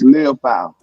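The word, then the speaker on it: Liufau: Liafu? Maris Leofow.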